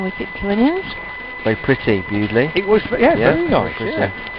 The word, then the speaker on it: Bewdley: It's spelled B-E-W-D-L-E-Y. Bewdley. Bewdley. Is correct.